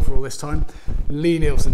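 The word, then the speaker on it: Lie-Nielsen: for all this time Lee Nielsen it is not line Ilsan I work in a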